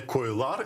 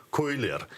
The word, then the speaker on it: койлер: коли змінюється, наприклад, множина, щоб звучала не «койлар», і це буде неправильно, а щоб звучала «койлер».